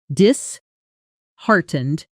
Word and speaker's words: disheartened: We say disheartened with the strongest beat landing right on heart, which makes sense because the word itself is built from heart.